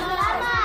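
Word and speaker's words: plumber: কি কব লাগবো প্লামার তার মানে বি আছে বির sound করিবো নোবা পি এল ইউ এম ই আর প্লামার ঠিক তাইলে কয় টি ও এম বি টোম বুঝিবালা এনে কয় আমার এম আক্ষরের পিছনে যদি বি আক্ষর টু থাকে তে হলে বি আক্ষরের উচ্চারণ ন হবো ন হবো হবো না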